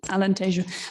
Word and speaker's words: Alentejo: our portuguese speaking colleagues i know i mispronounced alentejo because being here in spain i said tejono so sorry for that alan t'ju but thank you very